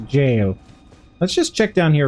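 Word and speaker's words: Gaol: or the jail sorry I keep calling it The Gil I know that it's um supposed to be pronounced a jail let's just check down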